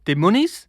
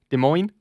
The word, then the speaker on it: Des Moines: just seen uh des moines i know it's pronounced des moines now but uh only the ogs who've been